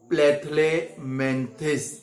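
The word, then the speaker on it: Platyhelminthes: आज हम लोग थर्ड फाइलेम यानी कि प्लेथलेमेंथिस, पहले तो प्रोनाउंसिएशन आपको अच्छे से आना चाहिए। प्लेथलेमेंथिस।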